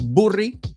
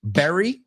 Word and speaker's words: bury: La pronunciación, bury, no es burry, bury, es como mora, frutas del bosque. Berries, let's bury the hatchet.